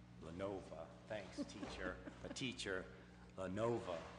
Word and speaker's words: Lenovo: advertising for bids to purchase up to 37 Lenoville computers, 5 docks, and 5 DVD players from Lenoville, if I pronounce that right. Lenova.